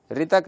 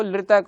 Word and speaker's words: ऋतक: रे की जगह ल, रे जो है वो मूर्धा से बोला जाता है और ल दंत से